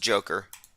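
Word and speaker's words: Dzhokhar: in 2010 boston bomber zokar and tsarnaev if i'm pronouncing that correctly said that reading it's pronounced joker people's history of the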